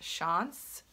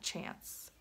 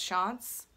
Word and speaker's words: Chance: I to Chanel fragrances shine oh and it's pronounced Sean's not chance I've been corrected in my comments which is